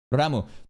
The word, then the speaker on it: Ram: Some people are like, no, he's saying Ram like 2 A's. Ram. No, that's a ROM. Here. Pronounce. Can I do this? Is there a YouTube like pronunciation? ROM. Pronunciation. I can't find it. Anyways, this is a no sound, bro. Remember. A. Ram. Ram. Rom. These vowels are very fucking different.